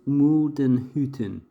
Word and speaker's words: Muldenhütten: That is Muldenhütten.